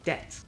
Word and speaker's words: debt: So just ignore the B. It's not there.